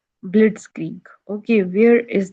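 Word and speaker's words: Blitzkrieg: अब ये है बिलिट्स क्रिग। अब इसको कैसे प्रोनाउंस करना है, I must tell you, right. सो इसकी प्रोनाउंसिएशन भी आनी चाहिए, तो हम इसे पढ़ेंगे ब्लिट्सक्रीग, राइट, ब्लिट्सक्रीग।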